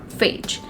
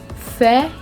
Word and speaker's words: Fage: So if I look at the spelling, it's F-A-G-E, and F-A-G-E in simple language, if I talk about, or how am I going to pronounce it, as fage, but it's wrong. The correct pronunciation of this word is faye, faye, faye, faye.